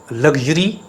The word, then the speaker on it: luxury: It's not luxury. Mostly we mispronounce this word as luxury. It is not luxury. It is luxury. Luxury. While luxurious. Luxurious, but luxury.